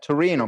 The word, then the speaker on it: Torino: beautiful i was in torino and am i pronouncing it right torino turin yeah yeah torino perfect yeah so is many years ago um